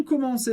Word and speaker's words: commencer: De novo, em commencer você percebeu que ER termina em E, e a gente pronuncia simplesmente E no final.